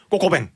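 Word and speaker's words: coq au vin: 그러니까 꼭이 닭이고요. 어. 오가 위드고요. 어. 뱅이 와인이거든요. 어. 그래서 이제 쭉 그냥 붙여서 발음하면 꼬꼬뱅 이렇게 되는 거죠.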